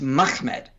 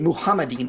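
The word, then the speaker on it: מחמדים: much same with this it's mahmed that's probably the most likely the earliest pronunciation you don't get muhammadin until after islam has influenced the masoretic valid points and then they start pronouncing it that way that's where this pronunciation is coming from it's coming from islam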